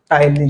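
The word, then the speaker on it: ptyalin: टलीन। क्या बोलना है? टलीन। टाइलीन किससे शुरू होता है? पी से। लेकिन लिखाता क्या है? प्रोनाउंसिएशन क्या होता है? टी से। टलीन।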